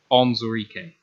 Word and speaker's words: Onwuzurike: this guy's name is take the woo out of his name and then say exactly what's there. Onwuzurike. It should be harder, but it's not. So it literally just that Onwuzurike.